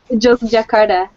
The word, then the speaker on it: Yogyakarta: Yogyakarta.